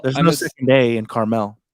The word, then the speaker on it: Carmel: is coming well there's no second day in Carmel it's because the city's spelled c-a-r-m-e-l so it's yeah they're not that far but yeah some people say caramel caramel Porsche Porsche of course a bag you